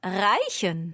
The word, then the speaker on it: reichen: And it's the verb reichen. Reichen. Yes. Reichen. What's the verb to smell? I thought that was reichen. No, careful. That's riechen. Okay.